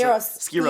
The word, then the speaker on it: Skyros: Is it Skyros Island? Is that how you pronounce it? Skiros.